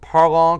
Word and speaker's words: Parlons: say um and and parlour cafe the s is silent um but so and